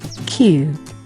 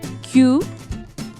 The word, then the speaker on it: queue: Q. An easy one. Q. So this one is Q, like the letter Q.